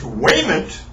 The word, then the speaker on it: Wymant: Mr. Wymant, properly pronounced Waymant, was born January 27th, 1935 in Greenwich, which is properly spelled, however, properly pronounced Greenwich.